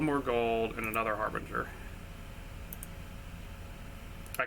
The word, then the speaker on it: Harbinger: 1 more gold and another harbinger. I call it Berger. I don't know why. It's Harbinger. I'm still probably pronouncing that wrong.